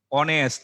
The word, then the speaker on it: honest: দেখো তারপর দেখো অনেস্ট, HONEST, হি ইজ অ্যান অনেস্ট ম্যান। দেখো এন বলি, হি ইজ অ্যান অনেস্ট ম্যান বলি, দেখো এইচ, এই এইচটা এখানে সাইলেন্ট আছে এখানে।